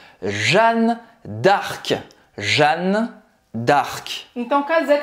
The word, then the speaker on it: Jeanne d'Arc: Então, de novo, a gente não vai falar dark, tá? Não tem I no final. Então, dark termina a pronúncia no C. Como é completo? Jeanne d'Arc. Jeanne d'Arc.